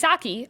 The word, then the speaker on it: Psaki: Here's a tip to help you pronounce her name. Just remember that she's Psaki a lot at her job.